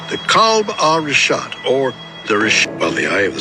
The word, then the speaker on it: Richat: Yeah, the Rishat, R-I-C-H-A-T. It's worth mentioning that. Yeah, in the first couple, I just want to say it's Rishat.